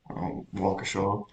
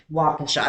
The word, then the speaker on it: Waukesha: I don't know how to pronounce an AU. Waukesha. Waukesha.